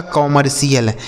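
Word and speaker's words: commercial: और सी आई एल का उच्चारण सी एल कर देना है। यह लिखा गया आपका कमर्शियल।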